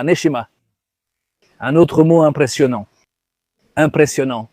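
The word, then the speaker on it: נשימה: En fait, le mot respiration en hébreu se dit neshima.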